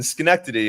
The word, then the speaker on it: Schenectady: I'm in Schenectady. It rhymes with vasectomy.